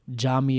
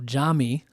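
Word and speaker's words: Yami: as everyone will know is spelled with a Y but it's pronounced with a J and so Jami is spelled y a m i so Jami then you have AJ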